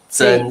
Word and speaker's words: 曾: 因为昨天有同学说可不可以念陈先生，不行，我们要念曾先生。